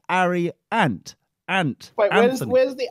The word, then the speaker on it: Arry: Is it not pronounced Harry, or is it Ari? Ari, A-R-R-Y. No, he can't pronounce.